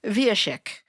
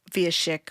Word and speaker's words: Wieszek: So if you're looking at it written for all of our American audience out there, the W in Polish is pronounced like a V.